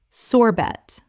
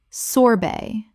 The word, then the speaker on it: sorbet: Common mispronunciation. Sorbet. Correct pronunciation. Sorbet. The T at the end is silent in both British and American English.